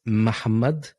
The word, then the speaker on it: Muhammad: It sounds like your first syllable is unvoiced.